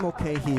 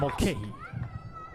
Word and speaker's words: Mulcahy: I think Mulcahy is the clear one just because of how it's spelled. Right, and it's how just it one looks. word. It's Correct. just Mulcahy.